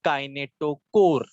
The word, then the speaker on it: kinetochore: ये disc shape के structure को हम लोग बोलते हैं काइनेटोकोर। काइनेटोकोर स्पेलिंग क्या है?